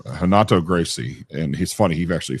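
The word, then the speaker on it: Renato Gracie: I mean, I did Hanato Gracie. I had to pronounce it proper. Hanato Gracie, and he's funny.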